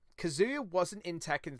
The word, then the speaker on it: Kazuya: say tomato tomato anyway you've been pronouncing it like it's kazoo and then with the ya at the end it is not kazoo there is no kazoo i like kazoos anyway